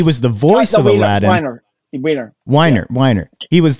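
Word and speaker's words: Weinger: Weiner.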